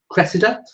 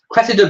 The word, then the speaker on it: Cressida: it was Crusader bonus I think you say her name Cressida Cressida bonus um I think she